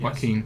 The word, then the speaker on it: Joaquin: Joaquin Phoenix, I think, is that how you pronounce his first name? Yes. Joaquin.